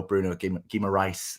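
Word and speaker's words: Bruno Guimarães: burn in the starting eleven uh and no bruno gima rice as i'm told it's uh pronounced uh he's on the bench as well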